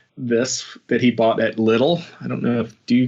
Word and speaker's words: Lidl: So in the U.S., they opened Trader Joe's first, but now they're starting to open both Aldi's and Lidl's in certain markets. Is it spelled like the English word little, or is it some other spelling that I'm not?